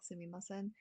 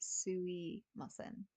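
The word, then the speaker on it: すみません: So fun little fact with this one, you can say it like sumimasen. If you really want to sound like you know what you're doing, you can drop the ma sound and just say suimasen.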